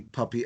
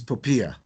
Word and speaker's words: POPIA: 16 seminars on the puppy act the new pronunciation according to the information regulator that's panula is poia it doesn't matter what